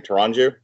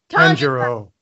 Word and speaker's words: Tanjiro: we start off with um how do you pronounce the name tyranju tanjiro tanjiro um that's gonna be a long show